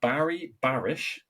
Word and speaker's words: Barry Barish: So, you said that meeting Barry Barish, is that you pronounce it?